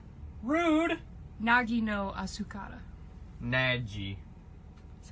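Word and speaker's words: 凪のあすから: The Japanese is, I'm gonna butcher this, Nage no Asukara. Rude! Nagi no Asukara. Naji. That's how you pronounce it.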